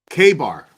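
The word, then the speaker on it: KA-BAR: Department on Facebook K Bar thank you hillbilly night show USA it's known as a k-bar knife that's how it's pronounced you could tell I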